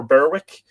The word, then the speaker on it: Berwick: is in north berwick is that beric or berwick if that's an english name i think they would pronounce it beric but um pardon me